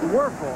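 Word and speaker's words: Wuerffel: eel might as well get used to it pronounced worful huh freshman Shane Matthews was a three-year starter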